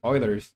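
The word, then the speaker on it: Euler: those quarians back to eer or eers or Oilers I think it's pronounced Oilers someone corrected like that's the way to pronounce uh that Oiler so yeah I'm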